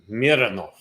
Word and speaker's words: Mironov: Do we say it like German? Mironov. Or Russian. Russian, that's what I mean. Roman Mironov. Mironov, yes.